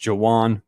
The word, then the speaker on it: Jawan: Jawan Powell is spelled Juan, but it's actually pronounced Jawan Powell.